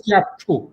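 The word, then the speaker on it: Kyaukphyu: It written as chapu K Y A P H UU but it is pronounced as Chapu.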